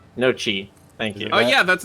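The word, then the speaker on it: gnocchi: or the naughty phase g-n-o-t-t-i that's pronounced no Chi thank you oh yeah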